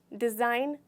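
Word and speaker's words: design: का चित्र बनाना लाइट इसे हम डिजाइन बोलते हैं इसमें हम जी को पूरी तरीके से साइलेंट कर देते हैं हम नहीं बोलते नहीं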